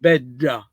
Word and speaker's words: bedda: Bella is bedda. Bedda has the cacuminal sound of that is unique to Sicily and some part of the Mediterranean.